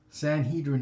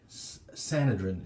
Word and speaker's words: Sanhedrin: the correct pronunciation is either way Sanhedrin is correct sanadrin is correct they're both correct so this dude obviously